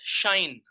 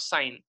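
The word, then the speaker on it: sinh: Okay, it is pronounced as shine, not sine, shine.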